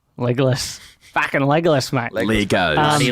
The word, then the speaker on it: Legolas: That's not the Australian way to pronounce his name, by the way. What is it? Legolas. Legolas.